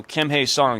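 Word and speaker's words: Kim Hye-seong: So Kim Hi Song is apparently the correct way to say it.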